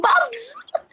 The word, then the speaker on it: Bubs: I hope other people don't pronounce it that way. That's not what I meant. It's bubs. that's It's so it's cute. spelled Bubs. bees boobs, These bubs. bees boobs. It's so cute.